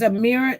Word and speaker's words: Ameera: Anyway, her name is Amira. It is spelled Ameera.